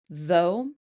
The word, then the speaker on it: though: Look at these three words: though, through, and tough. They all have that OUGH combination, but they're pronounced completely differently. Though rhymes with go, through rhymes with blue, and tough rhymes with stuff.